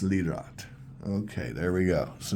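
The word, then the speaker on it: Lirot: It's pronounced Lroat.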